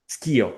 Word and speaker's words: Schio: Am I pronouncing it correctly? Schio, Skio, okay.